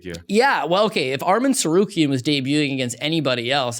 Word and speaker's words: Tsarukyan: We have Islam Makhachev taking on Arman Sakuran. Here's the beginning of the mispronunciation. Tsarukyan. Arman Tsarukyan.